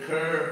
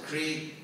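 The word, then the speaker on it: kṛ: Again, the word karma, from the Sanskrit root kur, or as devotees pronounce it, kri, and we still have words in English from that Sanskrit root.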